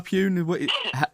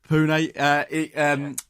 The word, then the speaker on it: Pune: Is it Pun in India, Pune? Pronounce it for me, Glenn. I think it's Pune or Pune.